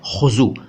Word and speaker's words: ख़ुज़ू: यह बताऊंगा बाद में पहले इसके उच्चारण पर ध्यान दीजिए मैंने क्या बोला मैंने बोला खुशु और खुजू या खुशु व ू या खुशु खुजू खुशु नहीं खुसू नहीं खुजू नहीं खुजू नहीं ठीक है ध्यान दीजिए इन शब्दों